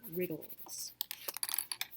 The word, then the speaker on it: wriggles: guys and we're gonna write wriggles which has a silent w i can tell that